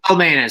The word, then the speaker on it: Kalmanis: It's Kalmanis, soft C there.